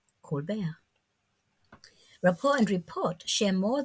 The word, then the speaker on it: Colbert: the title like rapport to match the pronunciation of his french derived name colbert rapport and report share